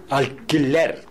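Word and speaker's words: alquiler: 무조건 Q-U-E, Q-U-I에서 U자는 보조글자이기 때문에 발음하시면 안 된다는 거 잊지 마시고요. 계속. 계속. 계속. 계속. 인킬리노. 인킬리노. 인킬리나. 인킬리나. 인킬리나. 알킬레르.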